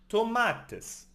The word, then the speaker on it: tomates: Tomatoes are called tomates in Spanish. It ends in S. And the S belongs to the nose. Where's the focus? On the penultimate syllable, tomates.